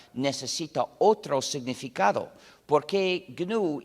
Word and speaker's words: GNU: Se escribe GNU, se pronuncia en inglés GNU.